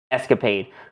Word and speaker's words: ESCAPADE: I guess it's just regular pronounced Escapade for NASA.